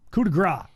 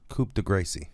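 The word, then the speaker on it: coup de grâce: That CE is silent, Michael Cole. Coup de grace. Coup de Gracie.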